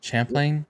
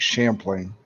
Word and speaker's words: Champlain: is that how you say it yeah Champlain Champlain monster spotted on Sonar actually I think it's Lake Champlain Champlain yeah it's a little bit more um